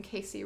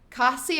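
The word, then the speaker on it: Kasei: Okay, that's how I know I'm pronouncing Casey wrong. Casii. I feel like it should have some more, like, zest to it, you know?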